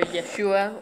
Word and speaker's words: Yeshua: Yahushua or Yeshua. How would you spell that?